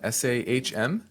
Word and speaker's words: Sahm: Sahm, is that, how would you pronounce that? Would you say it's Sahm? S-A-H-M?